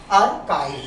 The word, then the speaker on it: archive: Right, तो उनको हम क्या कहते हैं, दैट इज कॉल्ड आर्काइव, और आर्काइव basically the correct pronunciation is आर्काइव।